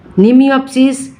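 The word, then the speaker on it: Mnemiopsis: নিমিওপসিস, এমটা silent, নিমিওপসিস C walnut, দুটোই C walnut, দুটো আলাদা আলাদা জেনাস।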